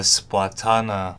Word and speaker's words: Splatana: They covered a new special weapon called the Tacticooler and a new base weapon class called the Splatana, pronounced like katana, not banana.